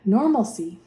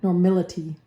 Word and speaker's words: normality: and Molar so okay normaly or normal normaly normaly normality I used call it pronounce it wrong normality is how you pronounce it the concentration of a